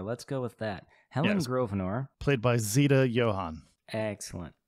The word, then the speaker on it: Grosvenor: an s in there it does have an s but i think the s is silent okay grosvenor let's go with that helen grosvenor played by zeta johan